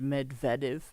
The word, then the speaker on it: Medvedev: that mid viiv um I know it's uh a Russian pronunciation of a Russian word and I think uh the English uh type pronunciation is just Medvedev but I'm going to